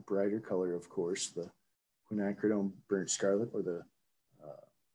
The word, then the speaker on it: quinacridone: i i like to the quinacridone is hard to pronounce so some people call it quinn or quack it's quack hooked on